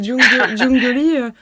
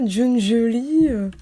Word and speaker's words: Jungeli: Voilà c'est comme Jungolly. Tu avais dit quoi ? Jungelie ? Non c'est Jung.